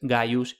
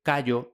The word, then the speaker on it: Gaius: El símbolo conservó su antiguo valor solo cuando, como letra inicial representaba los nombres Gaius y Gnaus, que en consecuencia a menudo se escriben y se pronuncian erróneamente Kayo y Kneo.